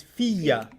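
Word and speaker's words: فيَّ: فينا And the ana is fiya. فيا The ya becomes doubled, yeah فيا right? Because there's a ya already in fi, and there's a ya in the ana.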